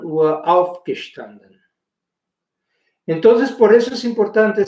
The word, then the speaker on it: aufgestanden: Wir haben die ganze Woche um 9 Uhr aufgestanden. Entonces, por eso es importante saber que los verbos separables llevan el acento tónico, obviamente, no hay acentos gráficos en alemán, el acento tónico sobre la primera sílaba.